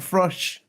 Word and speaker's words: Grusch: Like Frush. Yep. That's the one. Right. I remember that. It rhymes with Frush.